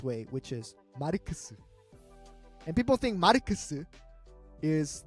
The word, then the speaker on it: Marx: But in Korea, instead of saying Marx, which is probably the proper pronunciation of Marx, we say it the Japanese way, which is Marx.